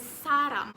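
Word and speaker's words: 사람: from its korean script in korean the word person and love sounds very similar person is pronounced as sarah while love is sarang and both words in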